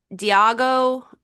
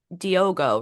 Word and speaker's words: Diogo: Um, him, Diago, not Diago, it's not Diago, it's Diogo, right? Is how they pronounce it.